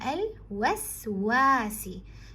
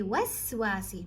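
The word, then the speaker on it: الوسواس: And then you have al-waswasi. Now the waw, you can see there's a sukoon after the waw, so you say waswasi. Don't jump quickly, don't be hasty with this sukoon.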